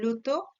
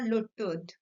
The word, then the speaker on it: Lyotard: by the French philosopher Jean-François Lyotard or Jean-François Lyotard. Both pronunciation is applicable.